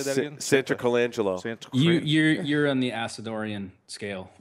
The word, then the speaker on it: Santarcangelo: Santarcangelo.